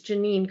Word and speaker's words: Jeanine: introduce alice's conversation partner hi hi hi um i'm sorry i said your name wrong it's janine excuse me um jamie